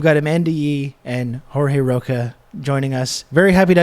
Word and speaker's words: Rocha: It's not actually Spanish, it's Portuguese.